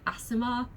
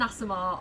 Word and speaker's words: Aasimar: It's like AA, like Aasimar.